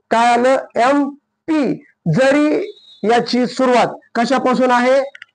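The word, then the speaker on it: MP: कॉजोन पासून आहे पण याचा उच्चार कॉन्सोन नाही बघा याचा उच्चार काय एम प असा होतो एम प म ए म्हणजे आर्टिकल आहे ए म्हणजे काय आपल वेल आहे म्हणून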